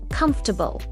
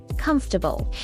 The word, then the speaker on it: comfortable: Comfortable. Comfortable. It's not comfortable. It's comfortable.